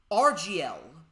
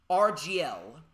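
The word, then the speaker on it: Argylle: a part of matthew vogg's new film franchise rgl not really uh too keen on the name i'm kind of bad with names but it's spelled a a-r-g-y-l-l-e rgl and the shooting supposedly begins next month in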